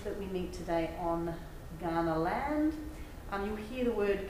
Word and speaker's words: Kaurna: And we say the word Kaurna, but what's often really confusing to some of my international students is that it's this word that's spelt with a K. So we say Kaurna, but this is how you spell it, K-A-U-R-N-A.